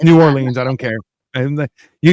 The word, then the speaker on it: New Orleans: Is every time I say New Orleans, and they're like, "Don't pronounce it like that," and I'm like, "Why?" They're like, "It's Nolans," and I'm like, "It's not. It's New Orleans.